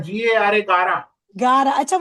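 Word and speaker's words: गारा: That's Gara, G-A-R-A, Gara. Gara. Acha, what is the meaning of this Gara? Gara means hailstones in Marathi. Okay, Gara. Extremely sorry, I was pronouncing it wrong.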